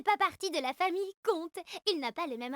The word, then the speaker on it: Comte: Comte ne fait pas partie de la famille Comte. Il n'a pas le même radical que les autres. J'ai l'impression de me faire une entorse du cortex. Comte et conte, ça se dit pareil.